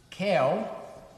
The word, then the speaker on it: kale: there too in Vermont we learned that kale has two syllables and that heading up